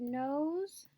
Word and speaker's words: nose: nose notice the word nose we're saying the long vowel sound and we have the silent e we do not hear the e it's nose what about the word Road